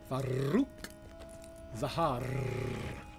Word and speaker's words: Farouk Zahar: Okay, I guess that's it for Farouk Zahar. It's important you roll your R's. Farouk Zahar.